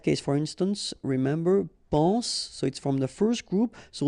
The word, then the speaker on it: soit: Okay, then of course être and avoir, so être will become soit, remember final S is not pronounced, soit, then soyons, soyez.